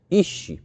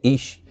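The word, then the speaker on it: איש: em vermelho mais adiante, ish. Essa é a palavra, se eu quero pronunciar homem em hebraico, é ish.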